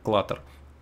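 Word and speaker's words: clutter: А читается это как клаттер.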